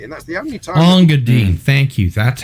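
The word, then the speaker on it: Engadine: Ongadine, thank you. That's how it's pronounced.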